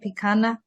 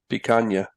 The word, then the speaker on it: picanha: Picanha? Picanha.